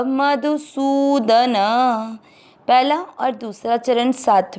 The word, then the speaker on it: मधुसूदन: च में अ मिक्स करेंगे च, म में अ मिक्स करेंगे मधु। सु की मात्रा बड़ी, लंबा खींचेंगे सु। द न दोनों अक्षर पूरे, दोनों में अ मिक्स करेंगे सूदन। दूसरा चरण रिपीट। द्रोणम च मधुसूदन।